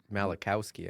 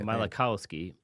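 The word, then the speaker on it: Malachowsky: Nvidia was founded by Jensen Wong and Chris I don't even know how to pronounce his last name. Mal Malikowski. Malikowski over a meal at Denny's.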